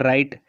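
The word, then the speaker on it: write: वहां पर मैंने लिखकर राइट राइट में देखे डब्लू आर्य साथ हैं तो मैंने बताया कि आर के साथ जब भी डब्लू आएगा तो डबल हो जाता है साइलेंट हो जाता है तो राइट का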